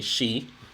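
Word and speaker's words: し: So with the number 4, it's pronounced 2 ways. So ichi-ni-san yon is how you usually say it. However, you can also say shi, which also means death.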